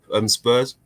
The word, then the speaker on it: Spurr: Roger and then SPURR Spur.